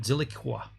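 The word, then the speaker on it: Zilliqa: by zig zilli silica that's the hard word to pronounce because usually a queue has a u after it zilikwa uh furthering monetization and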